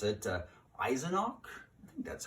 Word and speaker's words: Eisenach: was born in a little town called unpregnant mispronounced at eisenach I think that's how you say it and